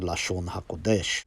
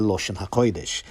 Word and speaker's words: Loshn Koydesh: And then the third one, which is my main reason for showing this, is Ma'amar Lashon HaKodesh, or as it's pronounced in the older, more Yiddishized Ashkenazi pronunciation, Maimer Loshn Koydesh, which means treatise on the holy language.